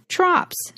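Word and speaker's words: trope: word for this is trops. You can look up the word trops, which is spelled t r o p e s, and it's pronounced trop. The o is long.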